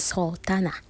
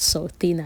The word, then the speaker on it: Sultana: So it's Sultana. not Sultana. I keep calling her Sultana.